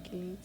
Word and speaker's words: Kuklinski: icem Richard kilinski kuklinski así se pronuncia kilinski kilinski okay busk Bueno se escribe kuklinski escribe ksk Pero bueno queé bueno que me yo lo digo ksk no sé cómo se kilinski Entonces Okay perfecto vamos